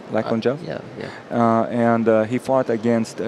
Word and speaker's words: Lachlan Giles: Lachlan Giles?